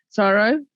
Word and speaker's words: CSIRO: before i joined uh sorrow and for your listeners out there if i say sorrow at csiro um because we're lazy we don't spell it out um so i didn't